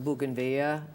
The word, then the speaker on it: bougainvillea: So as you walk the streets of San Miguel de Allende, the bougainvillea, am I saying it right?